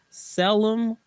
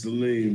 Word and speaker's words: Salim: Please give a Drive at 5 welcome to Selim 500. Am I saying it correctly, sir? It's Salim, but that's fine.